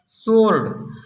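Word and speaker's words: sword: Rule number 1 है, यस के बाद डब्लू आता है तो डब्लू साइलेंट होता है। जैसे आंसर, सोर्ड।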